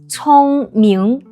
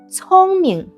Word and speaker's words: 聪明: Smart in Chinese, we say 聪明 But in spoken Chinese, we usually pronounce 聪明 as 聪明 The second Chinese zodiac animal is ox.